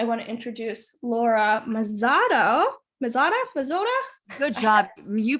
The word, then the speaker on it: Mazzotta: Mazzotta? Good job. You pronounced that correctly. Mazzotta, you rock star.